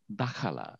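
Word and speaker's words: دخل: অথবা শি এন্টারড এটা দাখালা দাখালা দা খলা দাখালা আমরা দাখালাও বলি আমরা কারেক্ট উচ্চারণ হবে দা খালা আচ্ছা এই ক্লাসের জন্য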